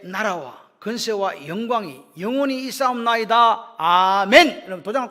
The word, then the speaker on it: 아멘: 아멘이 나옵니다 아멘 맞죠 아멘 아멘은 원래 히브리어로 아만이에요 아만 헬라 발음을 하니까 아멘이 됐습니다 아멘이란 말은요 무슨 뜻이냐